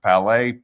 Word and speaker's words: Palais: Looks like palette, but it's pronounced Palais.